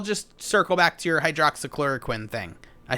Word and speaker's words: hydroxychloroquine: don't pronounce it correctly just remember yes queen and then you'll know exactly but no but to